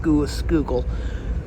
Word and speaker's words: Schuylkill: Also, the skookal is frozen, so that's fun. Yes, the this river is spelled shykill, but it's pronounced skoo skoole.